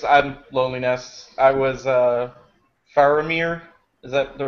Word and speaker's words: Faramir: yeah I guess I'm loneliness I was uh faramir is that the right pronouncation yeah it's fine yeah I was faramir